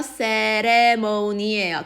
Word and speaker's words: ceremony: 발음 어떻게 했어? ceremony예요. 캐레모니 아니라 세 발음이에요.